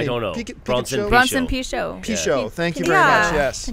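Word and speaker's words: Pinchot: How do you pronounce his last name? I don't know. Bronson Pichot. Pichot.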